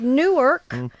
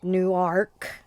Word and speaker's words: Newark: um they have scrabble they have newark which is no it's newark and we can always spot a non-delawarean when they call it newark yeah we have something